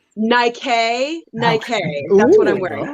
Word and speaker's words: Nike: It's pronounced Nike.